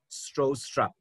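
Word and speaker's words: Stroustrup: Letter जे silent है और इसको पढ़ा जाता है बयान स्ट्रोस्ट्रप, ये इनके नाम का प्रोनाउंसिएशन है।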